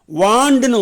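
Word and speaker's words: wand: Okay, இது மட்டும் கொஞ்சம் உச்சரிப்பு, வேண்டுன்னு சொல்லக்கூடாது, வாண்டு.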